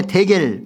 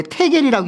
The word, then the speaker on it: 데겔: 그리고 그 다음에 데겔, 원래 테겔이라고 읽는데요.